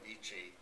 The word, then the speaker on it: Vici: So everybody outside of the family know me as, and I pronounce it as Vici, so I've become Italian.